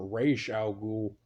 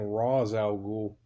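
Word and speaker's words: Ra's al Ghul: like i know on the cartoon um it's pronounced racial ghoul but for years i have been saying raw's al ghul as i will also i'm still kind of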